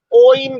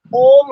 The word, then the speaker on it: ओम: बल्कि कुछ लोग तो इसको ओइम भी कह देते हैं, ओइम गलत है, ओम ही होगा।